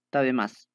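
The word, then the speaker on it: たべます: Si se han dado cuenta, la U no se pronuncia mucho. Tabemas.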